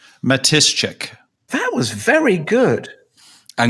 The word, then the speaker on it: Matyszczyk: to call me because they couldn't pronounce it the pronunciation is Matuschek because the SC and the cz in the middle are like shch Matuschek that was very good